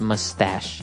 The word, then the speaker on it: mustache: little bit uh difficult to understand how you pronounce it because it's m u s t a c h e so there's no really sh sound like sh but you pronounce it mustache mustache yeah so that's one kind of facial